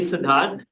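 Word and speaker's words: Siddharth: so just call me sidhar if you have struggle pronouncing it it's Sid or and then the organ heart right so as simple as that or you can call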